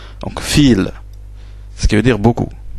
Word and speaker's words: viel: Vous voyez que le V ici, c'est un V, mais il se prononce F. Donc fil, ce qui veut dire beaucoup. Viele Leute, beaucoup de gens. Donc fil, voilà la diphtongue, c'est beaucoup.